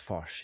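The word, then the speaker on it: Fosh: Max Foch.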